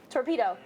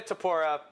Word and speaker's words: Topuria: How do you say Ilya Torpedo? Nope. I thought you were going to say Topic. No! Ilya Topuria.